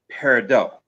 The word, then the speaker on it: peridot: it's going to have the French pronunciation, which would be peridot. Okay. Um, if you ever find yourself in Arizona where it is mined, They're going to say it peridot.